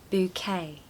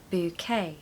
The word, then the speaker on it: bouquet: really great but yeah we don't pronounce the end letter there's a lot of